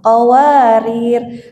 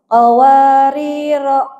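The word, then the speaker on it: قَوَارِير: maaf kalau mau berhenti kalau mau berhenti dan di akhir ayat itu dibacanya ee r-nya tetap berlaku sukun Bu nah qawarir kecuali kalau mau wa wasal qawariro qawariro qawariro Min Fid gitu ya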